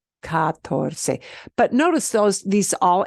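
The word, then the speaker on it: catorce: it's as long oh three syllables it kind of looks like cuatro but not really it's harder than saying cuatro four it's katorse katorse but notice those these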